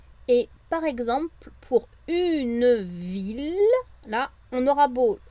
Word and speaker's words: ville: des petites exceptions et par exemple pour une ville là on aura beau à voir i2 l e ça va bien se prononcer il le une ville 1000e donc une fille la famille ça c'est